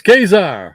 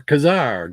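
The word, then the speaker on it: Ka-Zar: Where's Kazar or Kazar, depending on where you are and how you say it.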